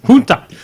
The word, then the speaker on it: junta: Junta.